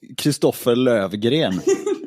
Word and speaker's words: Christofer Lövgren: Yeah, so it's actually pronounced Christofer Lövgren.